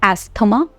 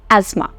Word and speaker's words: asthma: difficulty breathing I have asthma so it's not asema it's incorrect pronunciation it's asthma I carry my inhaler with me I have